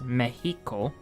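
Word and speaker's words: México: In English we say Mexico, but in Spanish it's Mexico. With the accent of the E.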